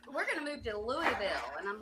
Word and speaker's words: Louisville: Pronounced Louisville, one syllable.